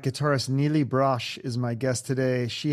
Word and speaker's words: Brosh: It looks like it's Brosh, but everybody says Brosh. So I'm like, either everyone's saying it right or wrong, or...